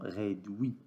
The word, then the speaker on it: réduit: Le premier mot, réduit. On observe que U avec I se prononce oui, comme Louis.